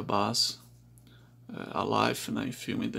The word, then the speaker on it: Bass: pesada pra sal buzz uma pessoa chamada em 10 mas pela origem da droga se pronuncia buzz a life nem filme